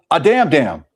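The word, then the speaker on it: אדמדם: But in Leviticus 13 where it speaks about leprosy, it uses the term a damn damn, which sounds redundant, but that's how you say it.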